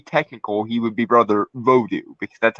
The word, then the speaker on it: Vodou: wanted to be technical he would be brother vodou because that's how you actually you're actually supposed to pronounce it it's not voodoo that was that was kind of an americanization